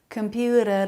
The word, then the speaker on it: computer: they're all saying that with a flap computer data that a flap instead of a T sound computer computer middle syllable stress if you can add